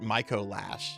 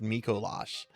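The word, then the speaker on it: Micolash: way I was saying his name last night, Mo Lash, but I I watched a video on him. I watched a video on him last night, Pig Knight, and I I heard that his name is pronounced Mikolash.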